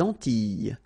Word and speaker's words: Antilles: So here it's quite interesting because, well, you've got this E and then double L, S. Okay? So final S and really you don't pronounce them. So you get this E sound.